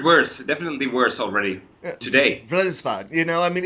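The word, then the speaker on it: Vredesvävd: And the name of the album translates into Vredesvavd. How do you actually pronounce the name of the album, though? Vredesvavd.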